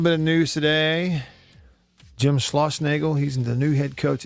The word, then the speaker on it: Schlossnagle: It's Schloss, so S-C-H-L, Schla, and then Osnagle, O-S-S, two S's, N-A-G-L-E, Schlossnagle.